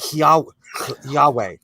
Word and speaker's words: Yahweh: show my american side yahweh i just want to it just says yahweh to me actually i don't think you're even supposed to pronounce the h i think it's more like that way oh okay i've been